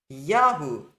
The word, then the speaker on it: Yahu: And so the full name becomes Yahu when the emphasis moves back to the first syllable.